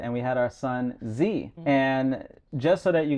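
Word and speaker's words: Zhi: And we had our son, Z.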